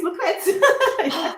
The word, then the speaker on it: Lucrezia: My name is Lucrezia. You say, no, Sorry. it's good. It's good. You pronounce it Okay.